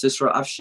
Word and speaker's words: Sisra: um i'm so sorry i took your name wrongly in the class it's sisra and mashallah she's doing